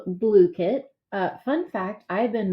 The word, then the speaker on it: Blooket: that they had so I've been calling it booked but it is pronounced blue kid uh this is akin to gimkit and kahoot